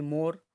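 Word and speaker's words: more: फिर मोर में आप देख सकते हो ई के नीचे अंडरलाइन की है, तो वो साइलेंट है क्योंकि मोर, ठीक है, तो ई का मतलब ई नहीं बोला जाता है, पीछे हम देखते हैं यहाँ पे।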